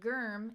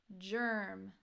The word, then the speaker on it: germ: dictionary, you say, okay, it's not germ, it's germ, soft G.